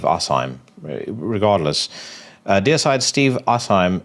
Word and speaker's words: Asheim: dear side Steve uh I keep saying Steve Hashim was but I I think it's pronounced Steve assim regardless uh deide Steve